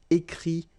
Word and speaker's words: écrit: Okay, remember, you put this T, you don't pronounce it. Écrit, dit.